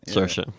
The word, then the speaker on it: Saoirse: You say Saoirse. Saoirse Ronan. Chlamydia. I think. It rhymes with inertia. It rhymes with inertia. Saoirse. That's right, Saoirse. So Saoirse Ronan, she's got